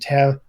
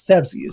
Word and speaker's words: Tabsies: monty psycho sloth and tab sorry it is thabsis oh it is easy my apologies if i said it wrong there is a invisible but not silent h so if monty wins